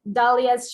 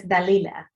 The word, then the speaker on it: Dalila: Hello, Victoria and Tom with Dalia's Chocolates, or is it Chocolates Dalia? It's Chocolates Dalila. Actually. There we go. I'm saying it wrong. I apologize. No problem at all. No problem at all. A lot of people, do that. They would call it either Dalila or Dalia.